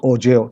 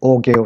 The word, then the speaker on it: ogive: बाज लोग इसको ओगेव या बाज ओजेव, ठीक है। अमेरिकन उसको ओजेव, उसका अब्रिविएशन आप लोग इस तरह करेंगे, ठीक है, ओजेव, या जो ब्रिटेन है उसको ओगेव से प्रोनाउंस करते हैं, ठीक है।